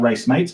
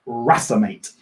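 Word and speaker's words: racemate: also called a rasa mate it looks like race mate it should be erased mate it's pronounced rasa mate and what a rasa mate or a racemic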